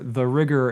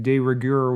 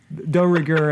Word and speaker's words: de rigueur: gloves that he has to wear because they're the rigueur in New York City, which according to IMDb pointed out that he's actually mispronouncing de rigueur, which is the French word for being in fashion.